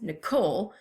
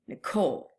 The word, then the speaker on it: Nicole: so my name is two syllables Nicole and I emphasize the last part of my name Nicole whereas at Troi sounds